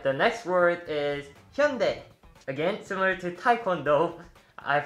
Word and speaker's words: Hyundai: the next word is hyundai again similar to taekwondo i've heard people pronounce hyundai as hyundai but it's actually more like hyundai as you guys probably